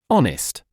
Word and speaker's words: honest: The h at the beginning of this word is silent.